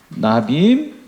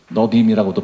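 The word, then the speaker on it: Nevi'im: 예, 그래서 토라, 나빔, 너빔이라고도 발음하기도 하고, 그 다음에 커투빔, 이거 합쳐서 이런 이스라엘 사람들은 이렇게 성경 구분을 이렇게 하는 거예요.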